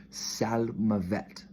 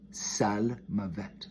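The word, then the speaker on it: צלמות: it could be nance pronounced as sal mavette sal mavette the first word is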